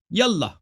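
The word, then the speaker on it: یا اللہ: کے لیے تو یہ جب یا کہیں گے تو اس کے ساتھ یہ الف کے تلفظ نہیں ہوگا یاللہ ہاں جو ہے وہ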